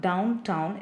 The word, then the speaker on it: downtown: The word downtown is a spondee with the stress syllable of down stressed, town stressed. ஸோ 2 stressed syllables வருதுன்னா அதுக்கு பேர் என்னது, it is said to be in spondaic.